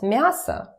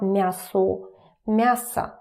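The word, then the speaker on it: мясо: Again, pay attention to my pronunciation. Remember that or it's about vowel reduction. So when it's not stressed, it turns to a a like that. A a massa mass. It's not mass mass.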